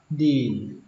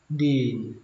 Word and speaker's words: dean: Trưởng khoa hay là trưởng bộ môn đọc là dean, dean.